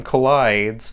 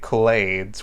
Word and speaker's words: Clyde's: got the name wrong instead of saying collides I kept on calling it Glades which oh I still